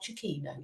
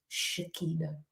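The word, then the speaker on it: Chukwuemeka: It's not Chiquino, it's Chiquino. He's been on that video saying how you say his name.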